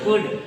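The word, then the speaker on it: could: कुड। यल इसमें क्या होता है? साइलेंट होता है। यल साइलेंट होता है, पढ़ा नहीं जाता है।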